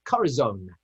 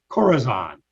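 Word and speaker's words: corazón: latin police of their corazon i think it's pronounced corazon yes corazon goddess arizona ladies and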